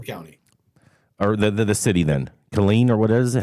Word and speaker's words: Killeen: Killeen, or what is it? How do you? Killeen. Yeah. It's clean.